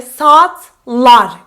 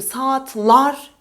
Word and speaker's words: saatler: Türkçe'ye geçmiş bir kelime Türkçe saatler kurala göre doğru gibi gözükse de yanlış Çünkü saat diler olması gerekiyor saatler Çünkü saatlar bizim için söylemesi telaffuz etmesi gerçekten zor O yüzden saatler Serhat s like at